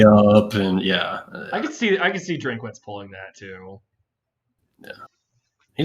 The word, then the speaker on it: Drinkwitz: that Brad Childress is how do you say his last name? Drinkowitz. Drinkwitz, yeah. Drinkwitz.